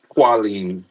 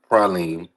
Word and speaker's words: Praline: It's not Qualine, it's Praline.